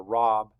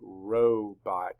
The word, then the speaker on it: robot: Is it a robot or a robbot? It's a robot. That's correct.